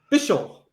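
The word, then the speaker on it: Bichall: First, Sherry Birst Bishal B I C H A L L I'm glad you practiced the pronunciation of her name before you you shouted it out there.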